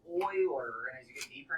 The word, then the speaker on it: Euler: So, but Euler, guys, as you start getting deeper into math, do not trust how things are spelled. The mathematician Euler is pronounced Euler, and as you get